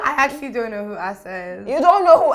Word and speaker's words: Asa: because you i mean you've said his name wrong oh really asha no asa no tell me what is it isaac okay it's a lesson it's the way it's spelt i just went right